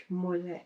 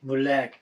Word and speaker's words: Mulek: But it's pronounced Mulek. Mulek.